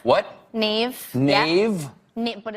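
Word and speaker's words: Niamh: sisha that's Hera does anyone know here to pronounce that in the audience hi TIG TIG yeah Nave what Nave Nave but it's NE that's the Irish actor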